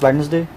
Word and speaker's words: Wednesday: would be of course wednesday yes what did you say wednesday how many syllables uh i think it's d is silent so we can go